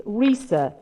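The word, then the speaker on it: Risë: my first name but it's very easy being it's risa as in norwegian telling me i always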